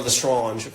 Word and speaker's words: Lestrange: There's the character of Lita Lestrange, or Lestrange, more French pronunciation.